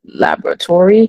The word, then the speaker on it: laboratory: Laboratory. Tory is a suffix. Laboratory. So then you don't even pronounce this vowel.